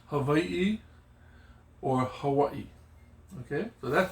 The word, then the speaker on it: Hawaii: Now the W can be sounded like W, or it has one letter that also has a V. For instance, Hawaii. Yeah? Hawaii. That is how you would say it. But people also call it Hawaii. Yeah? Hawaii. So it is an interchangeable.